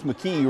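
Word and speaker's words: McKee: was all Morton Alex mcke rhymes with three mcke for three moments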